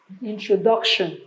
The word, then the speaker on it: introduction: Now always remember, words that end with TION have their stress on the penultimate syllable. That is the syllable before the TION.